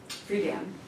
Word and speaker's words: Friedan: How do you pronounce her last name? Friedan.